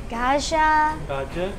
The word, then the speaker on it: gajar halwa: How do you pronounce that again? Gajar halwa.